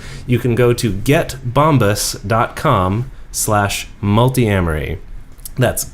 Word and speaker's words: Bombas: slash multi Emery which dedeker likes to pronounce bomb ass mm-hmm but there's only one s it's bomba and you get 20%